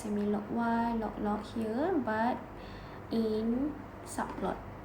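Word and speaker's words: semilogy: on both x and y axis, and then semi-log y, this is pronounced as semi-log y, okay, where it use a log 10 base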